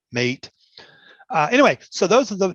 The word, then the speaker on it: MATE: what's on the inside my desktop choice is called mate m-a-t-e and there's a lot of argument about how to spell it or how to pronounce it a lot of people think it's mate but it's mate it's it's a south american drink or something so you know the people who know say it's mate not mate anyway so